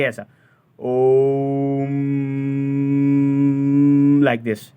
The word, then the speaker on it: ओम: में ओम का उच्चारण ओम का उच्चारण भी कैसे करना है ओ ऊ और म ये तीन शब्दों का वाइब्रेशन आप के हलक से निकलना चाहिए पहले ओ से फिर उ फिर म और म का उच्चारण ज्यादा देर तक करना जैसे कि ऐसा ओम